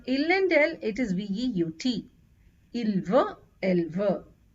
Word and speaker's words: veut: For il and elle, it is V-E-U-T, il veut, elle veut. However, the pronunciation for all these three remains the same.